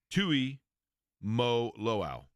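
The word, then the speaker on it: Tuimoloau: I mean, I wrote it down phonetically as well, but Tui Mo Lo'oau. Yes. Tui Mo Lo'oau. Tui Mo Olau.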